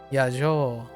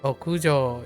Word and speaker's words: 屋上: Yajo. No yajo. 屋上 Okujo, yeah.